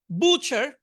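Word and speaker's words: butcher: বুচার, এখানে থ্রিটা উচ্চারণ হবে না, বুচার কসাই।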